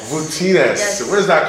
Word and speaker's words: Voutsinas: Voutsinas. Voutsinas.